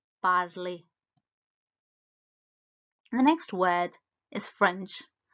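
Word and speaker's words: parler: bardli to speak is parley the last letter r is silent so it's badly the next word is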